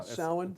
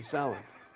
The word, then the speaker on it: Samhain: Samhain? Yeah, that's correct. Okay, Samhain.